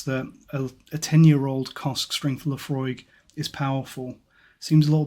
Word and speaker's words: Laphroaig: they've actually taken to telling you how to pronounce Lefroy on the box now as well and